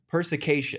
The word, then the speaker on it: perspicacious: Perspicacious.